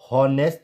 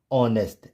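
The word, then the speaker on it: honest: जैसे यहां पर इसको हॉनेस्ट नहीं प्रोनाउंस करेंगे, क्या पढ़ेंगे? ऑनेस्ट। एच क्या हो गया? Silent, ऑनेस्ट।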